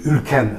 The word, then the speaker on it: Ülken: We call it "Gün" Words are pronounced softer as people live closer to each other, as philologists already know. So I may sometimes say Ülken other times Ülgen Because it can be pronounced both ways So God Ülgen sends